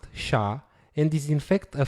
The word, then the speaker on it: SHA: used is sha 256 sh stands for secure hash algorithm is pronounced sha and is in fact